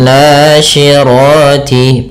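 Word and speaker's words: النَّاشِرَاتِ: Kemudian nasyirati pada lafal na sendiri ada mad thabi'i yaitu fathah bertemu alif panjangnya dua harakat. Sy hati-hati jangan dibaca si karena di sini huruf syin.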